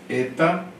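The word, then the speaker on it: ἦτα: Eta. Tá? Parece um Nzinho nosso, na forma de escrita. É o H. Tá? O som é E. Eta.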